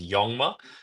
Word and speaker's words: Jongma: Um, so cool thing about my last name is the J is pronounced like a Y, so it's it's Yongma.